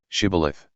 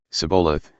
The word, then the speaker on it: shibboleth: And he would say, No, and they would say, Shibboleth. But he would always say, Sibboleth. He couldn't say it right.